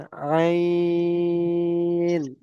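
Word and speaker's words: عين: এটা হামজা থেকে আ আসে এবং আইন থেকে আ আসে, কিন্তু আইনের উচ্চারণটা আপনাকে গলার ভিতরে নিয়ে যেতে হবে। আইন, আইন, আইন, গলার ভিতর থেকে আইনটা আনতে হবে।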